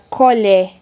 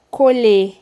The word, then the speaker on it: colher: Colher, colher. Percebam, tem uma diferenciação, tá? Eu coloquei aqui que em um exemplo é como se a pronúncia ficasse mais nasal, mais fechado, né?